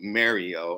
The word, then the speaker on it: Mario: in Park and was telling everybody they've been saying his name wrong. It's really Mario.